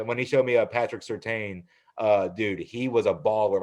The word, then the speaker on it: Surtain: And when he showed me Patrick, is it Surtain? Is that how you pronounce it? All right. Yeah. When he showed me Patrick Surtain, dude, he was a baller.